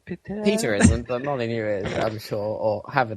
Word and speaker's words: Molyneux: I used to skip out the U. I'd say silent U. Silent U, of course.